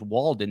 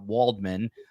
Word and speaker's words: Waldman: And COE, for the last 637 shows, I've been meaning to tell you, I think our voiceover guy mispronounced our last name. I think he says Walden, not Waldman.